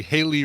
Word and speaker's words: Hayley: It should be your screen name really should be Haley rhymes with Bailey. Or Haley rhymes with or Shaylee or Kaylee.